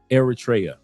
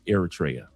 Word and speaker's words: Eritrea: engineering and education number twoa has over Eratraa. Thank you for the proper pronunciation. Eratraa.